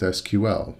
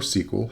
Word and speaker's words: SQL: you're at least familiar with SQL or sequel however you like to pronounce that structured query language because